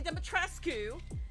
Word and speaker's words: Dimitrescu: If y'all had Lady Dimitrescu, yes, that's how you pronounce it, Lady Dimitrescu.